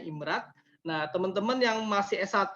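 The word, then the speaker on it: IMRaD: Nah ini pola-pola riset yang umum, sebenarnya ini standar internasional ya, IMRD ini, IMRAT ya, nyebutnya bacanya IMRAT.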